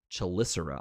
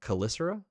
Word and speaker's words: chelicera: little foiling there graphine chelicera I almost called this chelicera when I first saw it but it's kicera is it kicera because you pronounced the CH Kiser I'm just going to